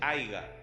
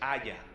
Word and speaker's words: haya: Y no se dice aiga, no existe. Se dice haya.